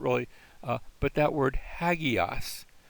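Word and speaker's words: ἅγιος: That's not really, but that word hagios. It's not just agios. It's hagios with an H sound in front of it because of that first mark that's over the alpha.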